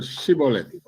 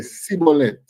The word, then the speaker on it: Shibboleth: Say the word Shibboleth. No, because they know that the Ephraimites them can't pronounce the word right. They say Sibboleth.